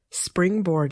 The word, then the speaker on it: springboard: Springboard can be difficult to pronounce because it involves a consonant cluster, a group of consonant sounds, at the beginning of the word.